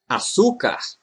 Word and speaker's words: açúcar: The only exception is when the word has a diacritic to indicate the stressed syllable, as in açúcar, repórter, mártir.